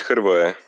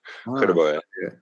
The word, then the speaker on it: Hrvoje: So it's Hrvoje. Like ein Herr, like wie ein Herr und dann Voje. Hrvoje.